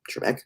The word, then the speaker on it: Trebek: oh sorry sorry sorry i look pretty trebek trebek yeah that's how you say it um hey